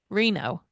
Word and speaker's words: Reno: going to say Feld, but it's Rachel Reno. Reno. Hmm. So I have to check the pronunciation guide on that because it's not exactly the way it's spelled.